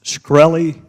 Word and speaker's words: Shkreli: chairman is it pronounced shkreli yes sir see there you can't